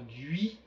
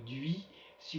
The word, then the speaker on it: Dhuis: par exemple he ou duis comme dans Hissier alors je pense que si vous êtes plus au nord vous direz plutôt dui si vous êtes plus au sud vous direz vous prononcerez le S final duis bon pour ma part étant au nord je vais dire dui dui donc alors le